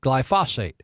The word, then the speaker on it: glyphosate: I'm saying it wrong this glyphosate g ly pho SAT not phosphate glyphosate and so in testimony